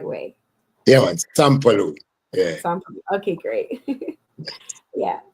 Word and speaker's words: Sampalue: So can you just share with our listeners who is S Paloo and let me know if I'm pronouncing it in the right way. Yeah. Sampaloo.